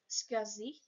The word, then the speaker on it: SCSI: drive as well s SSI pronounced scui is another interface that